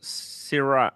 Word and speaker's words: Syrah: This one says this is Syrah.